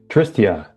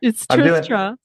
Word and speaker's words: Tristra: Tristia, how did I do on that, Tristia? Well, you got the first half perfect. Oh, man. It's Tristra, but it's close.